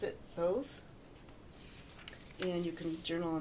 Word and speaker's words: Thoth: and I think you pronounce it Thoth.